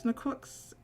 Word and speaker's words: Necroxid: The zid is more like zick in toxic. So it's necroxic. Necroxic.